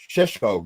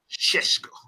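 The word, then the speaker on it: Šeško: How to say his name? Sheshko. You're the only one who can't say his name. Sheshko.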